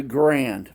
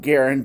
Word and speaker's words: Garand: People call it the Grand, but it's actually pronounced Garand, but it's either way.